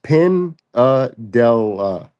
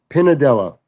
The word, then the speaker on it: Pinadella: Yeah, it's Pinadela. So, like Pendella. Pinadella. Pinadella. Yeah, it's it's Italian.